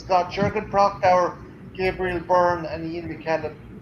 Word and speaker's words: Prochnow: And then Sutter Kane, I don't know how to pronounce his name. Slipknot was saying Prochnow. So Prochnow.